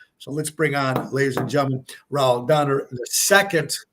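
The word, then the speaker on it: Raúl: So, Raul, how do you pronounce that? Am I pronouncing it right? Raul? Yeah, it's Ral. Ral. Raul. Okay. Yeah, this is like So Ralph where without were the PH.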